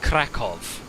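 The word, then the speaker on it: Kraków: voytek why is crack i think it's pronounced krakov right in polish why is it sometimes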